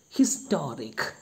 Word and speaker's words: historic: Historic, the word historic begins with the letter h, but it is not silent in this word, it is pronounced.